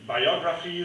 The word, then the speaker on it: biography: In biography, the stress is on that syllable, the syllable O, whereas biographical, it's on the half part, the graph part.